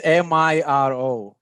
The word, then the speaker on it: Miro: I'm not sure how you pronounce it. It's Miro.